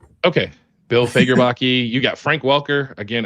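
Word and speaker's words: Bill Faggerbakke: Bill is uh Yeah, Fagerbachi is how you pronounce it. Okay, Bill Fagerbachi.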